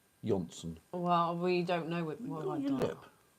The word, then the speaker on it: Jonsson: Is it Johnson or Jonsson? I think it's Jonsson. I think they pronounce the J Y. Jonsson.